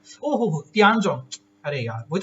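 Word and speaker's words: Tiangong: रही है, जिसका नाम क्या आपका, दैट इज ताइजोंग स्टेशन, ताइजोंग करके ना, ताइजोंग, ये थोड़ी प्रोनाउंसिएशन का ऊपर हो सकता है, ओहो तियानजोंग, अरे यार वही तो सोचो ना, गड़बड़ क्यों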